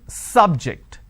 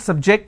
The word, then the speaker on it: subject: so i say bio biology is an interesting subject i'm i'm stressing on the first syllable okay now i'm using another example please don't subject the students to any tests so here my stress has moved to the second syllable for example when i